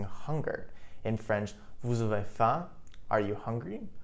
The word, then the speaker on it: faim: In French, vous avez faim, are you hungry? Note that faim, F-A-I-M, is pronounced as faim.